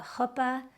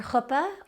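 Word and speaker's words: חופה: wedding ceremony, namely the hoopa, the circling, and then the welcome. Your hoopa or hoopa, hoopa in Hebrew, hoopa in a yiddishized pronunciation of that same word is the wedding canopy.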